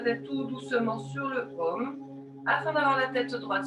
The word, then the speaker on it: Om: est le son universel, qui s'écrit A-U-M. Tu laisseras bien vibrer le A au niveau des organes génitaux, le U dans ton ventre, ta poitrine, et le M dans ta tête.